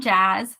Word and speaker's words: Jas: it says hi I'm Jazz pronounced like jazz with two Z's I like writing about